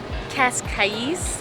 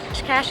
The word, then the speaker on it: Cascais: Matter of fact, I actually pronounced it Cas Kais like C A I S. Cash Cash is about 30 to 40 minutes outside of Lisbon.